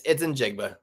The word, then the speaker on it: Njigba: Yeah, it's Njigba.